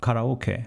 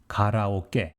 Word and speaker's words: karaoke: kara in english but true japanese pronunciation is close to g here is what it should